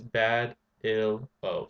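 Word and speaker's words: Badillo: Remember, if you want to pronounce my last name, it's Bad Il O.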